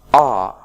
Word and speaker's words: are: In fact, we pronounce it like again, in the weak form. But in the strong form, we pronounce it like ah.